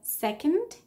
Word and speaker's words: second: and it's also unstressed, which means that we can assume that the vowel O in these three letters, in these three words, excuse me, is pronounced as a schwa. So second person reason. So it's not an O, it's a schwa.